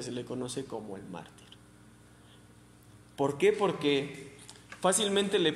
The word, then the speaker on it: mártir: Y el tema, la otra parte, es mártir. ¿Alguien sabe qué es mártir? Porque a Esteban se le conoce como el primer mártir. Mártir. Acento en la A. Mártir.